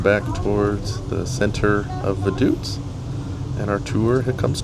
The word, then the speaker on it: Vaduz: on this tour is the name of the city is not pronounced Vaduz, but actually Vaduts. And after about 35 minutes, we come back towards the center of Vaduz and our tour it comes to an end.